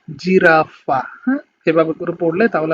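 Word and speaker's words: giraffa: আমি এগুলো আরেকবার আপনাদেরকে উচ্চারণ করে দিই, সেটা হচ্ছে জেমেলি, জিরাফা, জেন্তে, জেসো, যুবত্ব, জাক্কা, giusto giornale।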